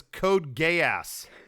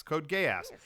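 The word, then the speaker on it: Code Geass: Yeah, it was Code Gay Ass. Yep. I asked everyone at the show, hey, how do you pronounce that? And they said, yeah, gay. It's like gay ass, Code Gay Ass.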